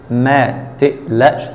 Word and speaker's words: ما تقلقش: ما تقلقش. Here the qaf is pronounced like hamza, as usual in the Egyptian dialect.